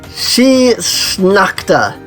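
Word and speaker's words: Sidhe Sneachta: Terra, Tiltine, you know, She Snakta was how this is pronounced, apparently. So it was very interesting looking up some of these words. Garrick. So She Snakta, though. I never would have guessed. So, but yeah, there's a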